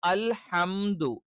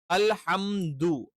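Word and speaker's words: الحمد: ഈ ഹ കറക്റ്റ് വേണം. ഇതിന് പകരം അൽഹ എന്നായി പോകാൻ പാടില്ല. അൽഹംദു. ഈ ഹ എന്നുള്ള ഉച്ചാരണം എന്താണ്? ഇത് തെറ്റായ ഉച്ചാരണമാണ്. പകരം അൽഹ. ഹ എന്ന് തന്നെ ഉച്ചരിക്കണം. ഇത് തൊണ്ടയുടെ അല്ലെങ്കിൽ നമ്മളുടെ ത്രോട്ടിന്റെ മധ്യഭാഗത്ത് നിന്നാണ് എന്ത് ചെയ്യുന്നത്, ഈ ഉച്ചാരണം വരുന്നത്.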